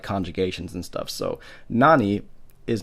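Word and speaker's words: 何: not yet being said it's not being pronounced as nani it's being pronounced as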